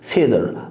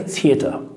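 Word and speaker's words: theater: ثيدر ثيدر، انا كده بنطقه امريكان ثيدر. لو انا هنطقه بريطاني هقول لك ثيتر ثيتر ثيتر، لكن انا بنطقه امريكي وبقول لك ثيدر ثيدر ثيدر.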